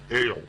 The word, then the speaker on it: El: beginning which is actually I'm pronouncing it incorrectly it's uh would be pronounced more on the lines of Al um almost like the drink but a little more pronounced is very hard to